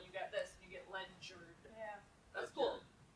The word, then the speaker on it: Ledyard: I live in Connecticut, and there's a town nearby, Ledyard, Ledyard, and it's pronounced Ledger.